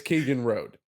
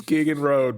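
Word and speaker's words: Kegan Rodhe: So, Keegan Road, which All right, we're going to remember we make the rules on how it's pronounced. It's Keegan Road. It's Keegan Road, baby.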